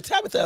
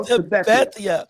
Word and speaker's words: Tabethia: I think she said Tabethia, because I was calling her Tabitha at first. Yeah, no, Tabethia.